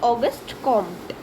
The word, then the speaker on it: Auguste Comte: The French philosopher Auguste Comte, we pronounce Auguste Comte, is considered to be the father of sociology.